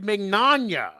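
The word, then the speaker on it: Mignogna: say his name right it's vic mcnanya like filet mignon filet mignon am i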